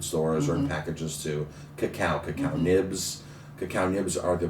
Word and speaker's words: cacao: But the chocolate itself, or the bean inside, was originally called cacao. Cacao. CACAO. The Brits could not pronounce that, so it was easily transferred to chocolate. Okay. Or Cocoa, exactly. So, but it is indeed cacao.